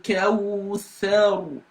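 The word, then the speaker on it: الكوثر: So you don't pronounce this alif because it's called hamzatul wasli, is in between 2 words.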